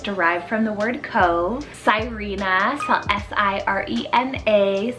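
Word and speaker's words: Sirena: beautiful and it's derived from the word cove cyrena s-i-r-e-n-a cyrena it's greek rooted meaning entangler kind of sounds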